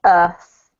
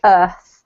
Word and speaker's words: earth: you this is pronounced earth yeah so often with the british accent we don't pronounce the r like americans do um we leave it